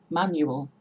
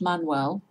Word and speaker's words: Manuel: M is my maiden name, Manuel, not Manuel.